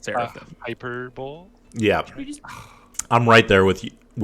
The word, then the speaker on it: seraphim: Pretty a, sure it's Seraphim. hyperbole. Yeah, You just I'm right there with you with hyperbole, but it is pronounced seraphim.